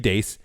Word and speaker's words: Deace: So this is from Steve Deace.